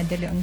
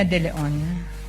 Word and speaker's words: De Leon: Ang tumatawag po sa akin ay si Miss Sonia De Leon po, ang Chief Admin po ng Cash Division ng Department of Education.